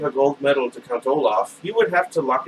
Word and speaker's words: Olaf: His name rhymes with rice pilaf. If you were going to give a gold medal to Count Olaf, you would have to